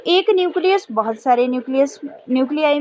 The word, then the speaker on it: nuclei: जब बहुत सारे न्यूक्लियाई बन गए तो हम उसको क्या बोलते हैं, न्यूक्लियाई. न्यूक्लियाई स्पेलिंग भी अलग हो जाता है, न्यूक्लियाई, NUCLEI, न्यूक्लियाई. फिर इन्हीं न्यूक्लियाई के अराउंड